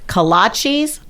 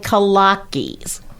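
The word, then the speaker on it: kolache: So Oh, there's two yeah. pronunciations I'm told are correct. Kolachis and Kolackis. I think it's Kolacky, but anyway.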